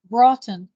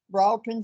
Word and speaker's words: Broughton: okay uh or uh Marvin says James Marvin that's how you pronounce that b-r-o-u-g-t Broughton Broughton Spence May 1925.